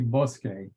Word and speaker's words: Bosque: That's actually Bosque. Oh, Bosque. Okay. Yeah. My pronunciation, I'm Indian by culture and by birth, so my pronunciation is very different. I can see why people would think it's Bosque, and that would make perfect sense.